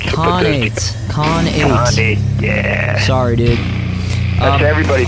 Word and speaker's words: Khanate: do I say it it's con8 why do I always want to say like a WRA of con you know con yeah eight the number eight con eight yeah sorry dude everybody